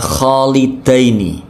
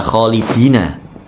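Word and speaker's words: خالدين: garib ini ada kata kholidaini biasanya yang sering kita temui di Alquran itu kholidina ya kholidina tapi khusus di sini kholidaini hati-hati ya Jangan dibaca kholidina ada lagima Amin Biasanya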